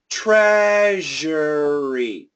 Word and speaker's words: treasury: an R here but so I'm I'm doing this in three syllables uh but this R is really small it's much stronger over here treasury treasure treasury treasury treasury